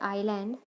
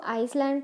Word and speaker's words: island: अब आपको पता है ये जो वर्ड है आइलैंड, इसको आइसलैंड तो बोलते नहीं है ना. ऐसे इसमें भी साइलेंट कॉम्पोनेंट है.